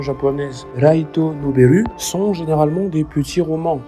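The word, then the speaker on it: ライトノベル: Les light novels, dans la prononciation japonaise Raito Noberu, sont généralement des petits romans, donc des histoires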